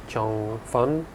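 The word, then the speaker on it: changfen: expensive they specialize in chang fen which is sometimes pronounced fun but they're essentially rice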